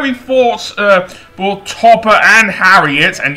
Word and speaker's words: Harriet: Topper and Harriet, and yes, it is Harriet, not Harlot, for the second time. So, yeah, not Harlot at all, it is Harriet. I got it wrong twice, so my original pronunciation was correct.